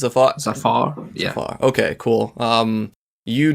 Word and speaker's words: Zafar: your name yeah i said it right it's a far yeah okay cool um you do past streams